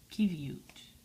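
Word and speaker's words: qiviut: about achivia primer now how do you pronounce it here is the kiev e ute kivute and what's the color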